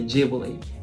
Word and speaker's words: Ghibli: english so once again in japan we say jubilee but in the previous video she said ghibli right so after watching that video i looked